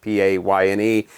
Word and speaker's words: Payne: And Pain, of course, spelled like her last name with the Y, you know, P-A-Y-N-E.